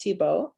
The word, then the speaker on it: Thibault: The true French pronunciation of Thibault, which only is ever spoken properly in Vermont.